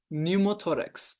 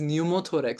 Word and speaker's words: pneumothorax: Then we will say pneumothorax. The condition is pneumothorax starting with the P. The P is silent here.